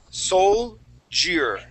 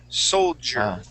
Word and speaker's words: soldier: the word soldier okay so soul jire soldier okay so yeah there